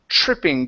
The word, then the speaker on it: tripping: All right, let's go to the word tripping.